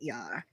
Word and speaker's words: Yar: No, Lieutenant Yar.